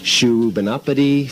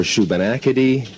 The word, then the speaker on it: Shubenacadie: would have to be mispronouncing regional names of towns, i.e. Muscadabuit for Muscadabit, Shubenapity for Shubenacadie.